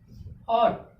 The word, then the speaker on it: ought: ठीक, ऑट, ऑट means क्या, चाहिए, OUGHT, GHT वर्ड के लास्ट में है, इसमें से GH क्या हो गया, साइलेंट हो गया।